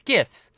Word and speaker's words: GIFs: You know, like the guy who made GIFs just somehow thinks it's GIFs, and I'm like, nah, it's GIFs. It's a hard G, Yes.